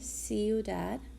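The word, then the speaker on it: ciudad: with the CEO dub it's gonna have an S sound see you dad el banco el restaurante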